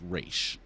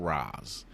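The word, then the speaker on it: Ra's: daughter of ragul and yes it's pronounced re not Raz uh or it depends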